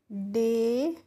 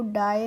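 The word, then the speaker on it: day: इसीलिए यहां पे हम डी ए वाई को डाई नहीं पढ़ते हैं। डे पढ़ते हैं।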